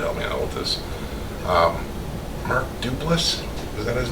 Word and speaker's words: Duplass: Mark Duplass?